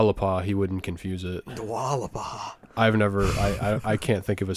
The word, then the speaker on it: Dua Lipa: Is that how you pronounce that? Dua Lipa?